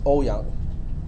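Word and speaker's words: Ouyang: maybe a the the manderine version of that last name is a lot easier it's O Yang okay o u y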